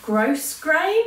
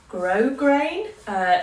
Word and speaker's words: grosgrain: I keep calling it gross gray apparently you're not supposed to pronounce the S so grosgrain toe caps there which